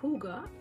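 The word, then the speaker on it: hygge: It's called Huda, that's how it's pronounced.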